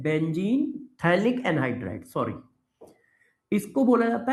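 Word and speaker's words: phthalic: थैलिक acid. पीए silent होता है। पीए क्या होता है? साइलेंट। बेंजीन के दो अड्डेंट कार्बन पर COOH लग जाए तो थैलिक एसिड बोला जाता है।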